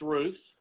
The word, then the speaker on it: Routh: All right, my name is Routh, pronounced Ruth. because I have called, I said again, Routh, he said, it's Ruth, and I always say the same thing. Are you sure? Ruth as in youth.